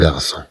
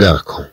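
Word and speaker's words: garçon: عندما نضيف لها هاد الجزئية عندما تتبع بأ أو إي أو أو، إذن هذا يجعلها تنطق كأس. نقول مثلا أن غارسون، أن غارسون. طبعا بدون هاد الجزئية سنقرأ الكلمة أن غاركون، أن غاركون. إذن نريد أن ننطق الكلمة غارسون ونكتبها بالصي.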